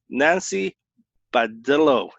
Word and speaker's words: Nancy Badillo: Nancy Badillo. Did I pronounce that right?